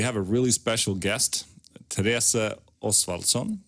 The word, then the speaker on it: Therese Oswaldson: Therese Oswaldson is the correct pronunciation in Swedish. Say that again. Therese Oswaldson.